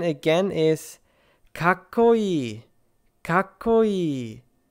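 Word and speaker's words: かっこいい: The pronunciation again is kakkoi, kakkoi. Zettai, zettai. Gakko, gakko. You basically pause on the first consonant and then continue with the second.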